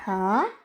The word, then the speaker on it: ح: Alors, est-ce que vous arrivez à prononcer le ha ? Ha quand vous dites ha vous allez sentir en de la gorge.